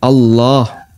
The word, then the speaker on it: Allah: Kalimat takbir Allahu Akbar yang dipanjangkan adalah lafzul jalalah Allah. Dan Allah kalau pakai standar tajwid berarti dia dibaca tafhim Allah. Yang kedua ee panjangnya dua harakat. Allah dua harakat.